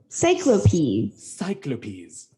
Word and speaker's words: Cyclopes: That's how you pronounce it. Cyclopes.